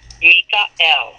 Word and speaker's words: Michael: those come from so when you look up Michael his name is pronounced Mikel and so I looked it up in the